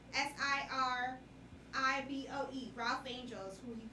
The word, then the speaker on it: Siriboe: But Kofi Sirgo. Cerbo? Bashir, yeah, that's his name. Who's that? What's he from? He's from Queen Sugar. I said his last name wrong. Kofi, Kofi. Absolutely not. Siriboe.